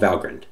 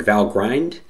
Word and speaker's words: Valgrind: it turns out there is and it's called valgrind just to note on pronunciation if you see it written it looks like val grind but it's pronounced valgrind okay so here's our